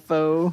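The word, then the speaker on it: phở: We'd skip school and go down to Chinatown, have pho, whatever.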